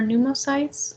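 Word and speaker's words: pneumocytes: alveoli I type one new more sites type two new sites and alveolar macrophages just remember four new mo sites uh it's like pneumonia the P is silent because this is a Greek word and so what we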